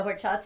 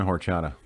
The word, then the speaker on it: horchata: english lessons too because the h is silent in spanish what's what's in horchata uh like cinnamon and